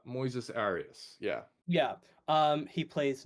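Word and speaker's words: Moisés Arias: name oh my God Moises Moes ARA I think is I think that's how you say it you're close uh Moises Aras yeah yeah um he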